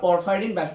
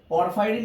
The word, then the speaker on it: পরফাইরিন: Video দিয়েছি, তখন তোমরা পরফাইরিন বিষয়টা বুঝতে পারবা। আর হাসান স্যারের বইয়ে পরফাইরিন না দিয়ে প্রোফাইরিন দিচ্ছে, যেটা ভুল, এটার উচ্চারণ কিন্তু পরফাইরিন।